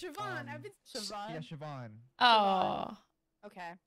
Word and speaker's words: Siobhan: Like Siobhan. It's like Siobhan or something. Siobhan. It's Siobhan.